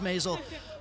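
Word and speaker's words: Maisel: basil rhymes with basil the marvelous mrs. Mazal best friend she'll fallen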